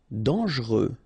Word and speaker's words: dangereux: Dangereux. Okay, so final X not pronounced, and then don't really pronounce this here.